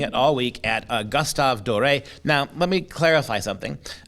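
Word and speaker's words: Doré: as an accent uh perhaps the most proper way of of pronouncing his name would be paul gustav as a european netherlandish name so i want to make sure i've heard him called both and americans tend to call him dorae whether that's appropriate or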